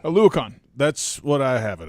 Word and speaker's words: Oluokun: Foye Oluokun. Oluokun. That's what I have it as. Yes. Now, I don't have the official it's guide Oluokun.